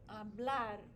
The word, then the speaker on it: hablar: The infinitive in Spanish always ends with an R, and the stress always goes on that syllable, hablar.